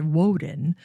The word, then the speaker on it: Woden: He christened it Woodeneth, a marriage of two Old Saxon terms, Wooden, which would have originally been pronounced Woden, and eth, which stood for Woody Promontory.